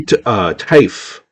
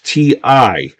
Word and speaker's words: Tiffee: have fine work Terry Taif. I think I'm pronouncing Terry's name wrong. It's Tiffee.